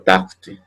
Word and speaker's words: tarte: Y aquí, por ejemplo, tarte también, ¿no? Las es finales, ¿no? Las es a final de palabra nunca se van a pronunciar.